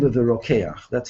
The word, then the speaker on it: Rokeach: So Rabbeinu Bachya quotes an ancient tradition in the name of the Rokeach. That's how that's pronounced.